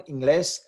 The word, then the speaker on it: inglés: Let's look at the next one, Inglés. Inglés, the stress is on that glés, on the last syllable, but it ends with an S.